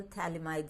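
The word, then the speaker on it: phthalimide: preparation is known as Gabriel thalamide synthesis pH is silent over here t-h-a-l-i-m-i-d-e in mind group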